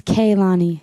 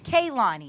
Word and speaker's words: Kehlani: doing just avoiding it so how do I pronounce your name it's kaani kaani yes where are you from I'm from North